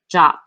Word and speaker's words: JWT: hear the pronunciation as jwt but the rfc suggests the same pronunciation as the english word jot by the way jut